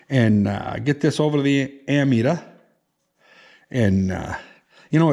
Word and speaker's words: ammeter: always called it an ant meter because you're metering amps but it's actually pronounced ammeter it's amm you know there's no p in it but anyway go figure